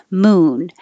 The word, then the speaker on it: moon: Moon, even though it's a single syllable word, you can't make it too short. Like moon, it has to, you have to be able to hear the vowel, moon. You don't have to be too long like a cow.